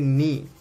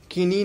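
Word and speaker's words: knee: तो ये हो गया नी घुटना, बराबर। के का कोई यूज़ नहीं है, इसको किनी नहीं बोलते, नी बोलते, बराबर।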